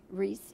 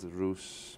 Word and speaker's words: Rhys: hear of your name oh i've had ruse bruce rice russ you know you name